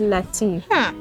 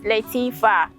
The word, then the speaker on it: Latifa: Abdul Latif. Latifa. Name. Auntie Lati. It's not Auntie Lati. Auntie Lati. Auntie Lati. Please, you are not Lati. Your name is Latifa.